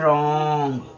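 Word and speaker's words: wrong: तो अगर आप ओरोंग कहते हैं तो यह बिल्कुल ही गलत प्रोनन्सिएशन होगा। ठीक है? इसको आप कहेंगे क्या? इसको आपको कहना है रॉन्ग। क्या कहना है? रॉन्ग। ठीक है? रॉन्ग कहेंगे तो आपका ये बिल्कुल ही सही होगा। क्योंकि यहां जो डब्ल्यू है ना डब्ल्यू आपका हो जा रहा है साइलेंट।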